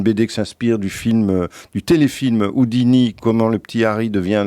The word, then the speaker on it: Houdini: Harry Houdini, les clés de la magie aux éditions Jungle, prononcé à l'anglaise.